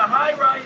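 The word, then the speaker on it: Hye: the yeah so the highr is the only thing that we've ever done with a different Mash F so the high is a bourbon it's spelled h ye R ye uh with 52% white panan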